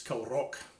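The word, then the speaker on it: Kilravock: This is a tune called The Ancient Barons of Kilravik. Although somebody did point out that actually in the area the V is silent, so it's Kilrock or something like that.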